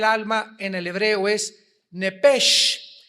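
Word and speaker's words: נפש: en el hebreo es nepesh, se pronuncia nepej, la CH en hebreo se pronuncia como J, nepesh, murió.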